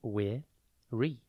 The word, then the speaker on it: weary: It is pronounced we-re, and it is spelt W-E-A-R-Y. Think we and then A-R-Y.